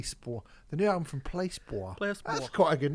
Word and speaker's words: Placebo: pronounce a band's name how'd you say placebo did you say placebo no i say placebo oh you say you say it right oh that's good yeah